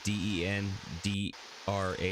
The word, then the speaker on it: Dendrar: in there so i'm partly missing it as it's spelled t-h-e-l raphael and then uh d-e-n-d-r-a-r for dendrar okay i am here seeking the